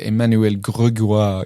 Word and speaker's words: Emmanuel Grégoire: Let's get his pronunciation right here. Emmanuel Grégoire. Grégoire.